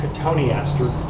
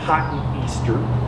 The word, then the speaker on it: cotoneaster: This is red clusterberry cotoneaster. The way you spell it is cotton Easter. That's how it's pronounced.